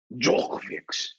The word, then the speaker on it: Djokovic: It's spelled Djokovic. Have you heard of this No, you story? said it wrong. Djokovic.